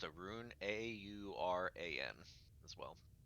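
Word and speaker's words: Auran: uh uh ericocra and then uh is it pronounced arun a-u-r-a-n as well oren warren there you go so the the our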